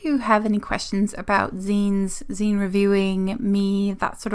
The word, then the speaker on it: zine: my pleasure to let you know about it's pronounced zine wow this is one of those things that